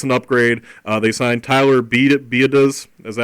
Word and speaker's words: Biadasz: They signed Tyler Biadasz. Is that how you pronounce it Mike? Biadasz. Biadasz, okay, yeah.